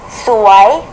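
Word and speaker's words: สวย: 수와이, 예쁘다, 아름답다, 수와이.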